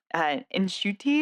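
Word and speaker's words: Ncuti: Nshuti is, I think, how you pronounce his name, Gatwa.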